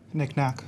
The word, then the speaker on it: knickknack: Knick-knack.